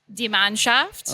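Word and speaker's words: Die Mannschaft: De Manhaft. Yeah. I I had to Yeah. Um so I think the correct or more accurate pronunciation is deman shaft.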